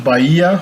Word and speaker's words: Bahia: Now he moves on to Bahia. He says Bahia, but it's not the H is not pronounced.